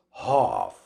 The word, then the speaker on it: half: and the british accent when you pronounce these two words ask becomes ask i want to ask you some questions ask half becomes hof half ask half ask